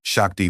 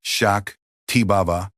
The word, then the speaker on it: Shakti: The proper pronunciation is amita shak tiba. Amriita has the first a as in about. The i as in meet and the final a as in about. Shakti has the sha as in shine.